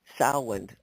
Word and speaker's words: Samhain: Celts who called it Samhain. I always have trouble with that name, but that's how it's pronounced. It looks like it should be something different.